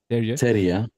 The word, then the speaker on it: Terje: Terje.